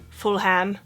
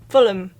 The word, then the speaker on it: Fulham: now you're probably like this is not pronounced full ham and you're right it's not even though again it just would make so much sense but this is pronounced Fulham like there would be no h and two L's Fulham Broadway is